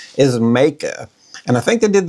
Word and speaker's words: Meike: I have been calling this lens Mikey. Mickey have called it all kinds of things. They've all been wrong. I looked up the correct pronunciation is makea and I think they did that because if